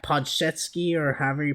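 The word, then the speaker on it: Podziemski: And, you've had some hidden gems like Podsetsky, or however you pronounce how do you pronounce this? Podzinski, yeah.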